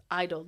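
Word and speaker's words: (G)I-DLE: lot of people like in Korea it's pronounced just Idol the G is muted in bracket um the second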